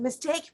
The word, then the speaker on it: mistake: I know that mistake pronunciation, the stress is on the second syllable, mistake, not mistake, not like this.